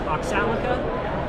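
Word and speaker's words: Oxalika: Okay, so we got Umberto here with, is it pronounced Oxalica? Yes. Is that how you pronounce it?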